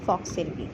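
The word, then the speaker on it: falx cerebri: থাকে বক্স কি থাকে এটার প্রোনাউন্সিয়েশনটা অনেক সময় ভুল করে অনেকে বাট এটা হবে ফক্স সেরিব্রি এখন আসো জিজ্ঞেস করা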